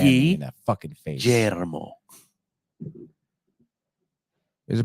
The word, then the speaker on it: Guillermo: Because when I was in Spanish class in high school, yeah, I was taught that the double L's are pronounced like a Y, like me llamo.